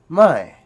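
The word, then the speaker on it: ไม่: Then you have a falling tone, which means no or not, mai.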